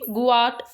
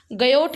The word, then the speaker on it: Guyot: शोल, भीति, नीमगन द्वीप, गुयाट या किनारा। बिल्कुल राइट, नीमगन द्वीप। गयोट के नाम से भी कहते हैं, गुयाट कह लो, गयोट कह लो।